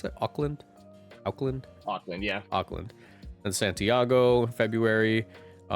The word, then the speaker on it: Auckland: Do you pronounce that Auckland? Auckland.